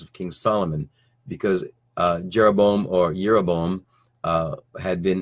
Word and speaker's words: Jeroboam: him King now when jeroboam and it was that it was actually his name would have been pronounced yeroboam uh yerebom the son of nabat because there's no J sound in Hebrew just as an aside